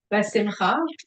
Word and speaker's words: besimcha: The letters forming the Hebrew word besimcha, am I pronouncing this okay?